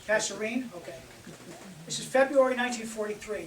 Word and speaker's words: Kasserine: The result of this is, at a place, I've never heard this word spoken, I may mispronounce it, the Kasserine Pass. Kasserine. Kasserine?